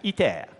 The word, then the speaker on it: ITER: Now, this is ITER, pronounced in French, ITER.